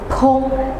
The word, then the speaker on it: bon: ว่า พง นะ คะ มัน คล้าย ๆ กับ การ ออก เสียง ปลา กระพง อะไร อย่า เงี้ย แต่ ว่า พง ตัว นี้ มัน ต้อง มี เสียง เะ นิด นึง พง พง ง ต่อ